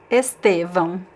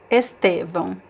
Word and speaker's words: Estevão: So here it's an example of in which the stress is actually in the middle because of the graphic accent, right? And the last syllable is actually unstressed, but it actually carries what we call a secondary stress. So we have the primary stress is in the middle, estevão, and the second, and the is secondary stress.